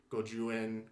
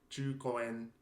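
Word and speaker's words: 十五円: So Koreans might say jukoen, kochusen, as opposed to gojuen, gojusen.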